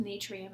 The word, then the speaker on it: natrium: na which is sodium it's pronounced natrium in Latin and that's why it's na mg is magnesium P